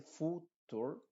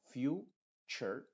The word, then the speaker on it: future: un Universe cubec Future te fijas no se dice Future sino Future esta t u forma el sonido ch Future Future luego music